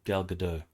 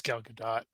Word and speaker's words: Gal Gadot: This woman has a striking resemblance to Gal Gadot, or Dot, whichever way it's pronounced. I think it's Gal Gadot. Yeah, it's not French.